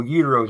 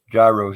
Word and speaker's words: gyros: about 30 years ago uteros i know uterus is how you say them but gyros is more fun i have americanized them